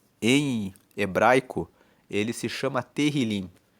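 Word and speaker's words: Tehilim: Tanto que o livro dos Salmos, no original, em hebraico, ele se chama Terilim. e terrilim, que se escreve t e h, terrilim significa louvores.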